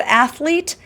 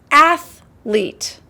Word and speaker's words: athlete: Sometimes I've heard people pronounce the word athlete They added a little bit of extra in there. It's athlete, not athlete.